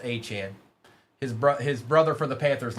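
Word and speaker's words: Achane: Um, Achan Brandon, his last name is spelled Achan or is pronounced Achant.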